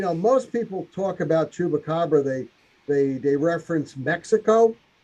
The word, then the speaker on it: chupacabra: actual where they're saying uh Spanish pronunciation is chupacabra literally Goat Sucker from